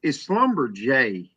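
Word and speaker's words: Schlumberger: It's Slumberjay.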